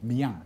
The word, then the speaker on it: Miyang: Did I pronounce that correctly? Miyang?